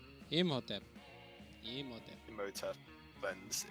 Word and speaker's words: Imhotep: The H is silent. Imhotep. Imhotep. Imhotep cleanse.